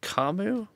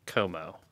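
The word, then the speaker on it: Comeau: Mason Raymond, Evgeny Nabokov, Blake Kamu. Like Como. I know how to pronounce that. Why did you pronounce it wrong?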